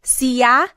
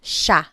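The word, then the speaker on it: siya: And again, just to point out the pronunciation, it looks like it should be pronounced sa, but it's usually pronounced sha sha.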